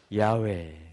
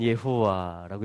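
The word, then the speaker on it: Yahweh: 그것이 주님의 이름에 표현되어지는데, 그것이 뭐냐면 요드 헤이 바브 헤이라는 것입니다. 이걸 신성 사문자라 그래요. 야훼 혹은 예호와라고 읽혀지는 것입니다.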